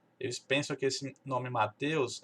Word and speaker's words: Mateus: Aqui fica us, né? Matthias. É o jeito que eles falam. E eu tenho que explicar que não é assim, né?